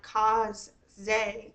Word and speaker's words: Casze: Z and so I've been saying it like cuse Z ever since kind of but if you see